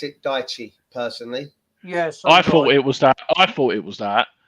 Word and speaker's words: Daichi: I'd pronounce it Daichi personally.